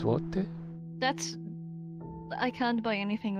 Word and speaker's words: złote: How it's pronounced złote.